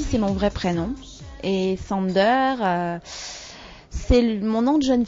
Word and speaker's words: Sander: pr ça se prenom Sander alors il y a des gens qui mettent un petit accent américain mais ça c'est c'est